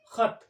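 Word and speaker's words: ख़त: जैसे हम लिखते हैं खल, तो ये खा अलग है, का वर्ग का खा है, ये फारसी वर्ण का खा है। तो सही उच्चारण है इस शब्द का खत, तो इसमें से इसलिए इसको लेना पड़ा, यहां खत लिखते हैं।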